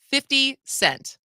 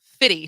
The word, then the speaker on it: 50 Cent: one's kind of funny white people should always clearly pronounce 50 Cent he's not fitty to you wow I agree with